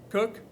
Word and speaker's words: Coke: really important Authority Lord cook looks like Coke but I've heard it's pronounced Cook and Cook is citing